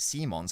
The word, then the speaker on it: Simons: It's a Dutch name, so it's pronounced Simons.